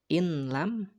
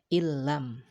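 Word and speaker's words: إن لم: huruf hijaiyah lam ya, sehingga dibacanya bukan in lam lagi, akan tetapi bacanya adalah illam ya, seolah-olah si lamnya itu ditasdidkan.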